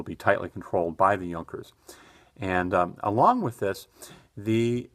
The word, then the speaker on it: Junkers: And it looks like, if you read this, it's with a J, it looks like Junkers, but in German it's the Junkers.